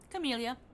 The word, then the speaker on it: Camellia: Camellia. Like the flower. Okay, Camellia.